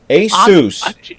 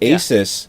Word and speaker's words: Asus: I call Asus Island a sous is the proper pronunciation but I called it